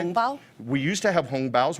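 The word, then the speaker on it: 红包: Hongbao?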